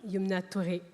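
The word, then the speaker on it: Youmna Touré: Yumna Touré.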